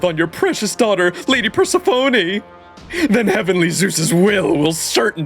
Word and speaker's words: Persephone: Persephone. What a lovely oath by a lovely goddess. I'm touched. Truly. I see. So you have sworn this oath on your precious daughter, Lady Persephone.